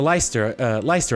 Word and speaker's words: Leicester: Lastly, there's the Golden Deer House, which is for students of the Leicester Alliance. I'm trying to pronounce it like Worcestershire.